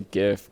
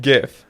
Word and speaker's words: GIF: the dude who made them, he's like, it's GIF, but it's pronounced in the English language GIF.